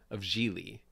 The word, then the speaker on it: Gigli: So that was sort of how I tried to make sense of Gigli, which rhymes with really, by the way.